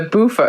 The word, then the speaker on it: Bufo: And the Bufo, it's Bufo. Is that what you're saying? It's Bufo. How do you spell that?